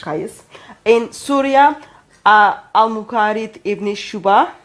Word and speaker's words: Qais: For example, we know in Medina, Zayd bin Thabit, in Mecca, Abdullah bin Saib, in Basra, Amir ibn Abdul Quyas, sorry for the pronunciation. Qais.